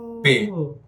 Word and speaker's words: Pei: So Pay. PEIPAY. That's the pronunciation.